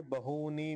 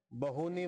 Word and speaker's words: बहूनि: तर पहिला पाद आहे बहुनी मे व्यतीतानी ठीक आहे इथं बहुनी मध्ये दीर्घ उकार आहे मोठा उकार आहे तर त्याला तसंच बहुनी मेतानी दीर्घ इकार मोठा इकार आहे तर मोठा उच्चारण करायचं बहुनी व्यतीतानी जन्मानी तव